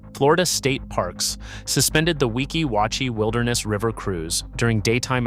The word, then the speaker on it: Weeki Wachee: Say the spring name correctly, Weeki Wachee. Weeki Wachee.